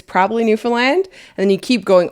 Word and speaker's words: Newfoundland: It's Newfoundland, understand. Yeah. Oh, yeah, it rhymes with understand.